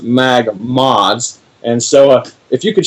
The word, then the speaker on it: MagModz: say different words so for that it is pronounced mag mods and so if you could share it and